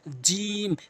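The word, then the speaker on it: جيم: ব্যবহত হয়েছে এরপরে হচ্ছে জিম জিহ্বার মাঝখানটি উপরের তালুর সঙ্গে লাগাবেন তিন আলিফ টেনে পড়বেন জিহ্বার মাঝখানের অংশটা উপরের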